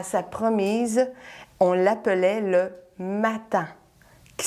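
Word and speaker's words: mattan: On l'appelait le matin, qui s'écrit M-A-T-T-A-N, le matin.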